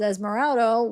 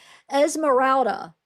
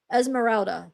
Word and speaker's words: Esmeralda: Um, but I'm pretty sure this is Esmeraldo, which Esmer I say it wrong all the time. People get on me. Emeralda. I don't know why my mouth every time I want to say it keeps saying Esmeraldo. Esmeralda. Esmeralda.